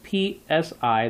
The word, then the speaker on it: psi: and that spelled out psi the P is silent and then you have